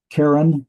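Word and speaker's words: קרן: Karen is a horn. Notice that also is a seglet, got the accent on the first letter.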